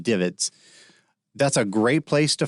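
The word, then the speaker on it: DVIDS: visual information distribution service d-v-i-d-s usually pronounced divots that's a great place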